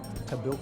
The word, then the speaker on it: Tahbilk: Well, Tabil is an Aboriginal name and it's actually Tabil.